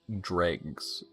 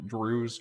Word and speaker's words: Dreughs: I'm actually gonna quit out of here and create a new plugin to do the Dregs, which I believe is what we landed on for the canon pronunciation of those. Dreughs, Dregs, whatever.